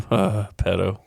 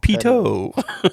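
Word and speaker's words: Petto: Pedo. You can't live within 2 miles of a school. Peto. It's pronounced Pito.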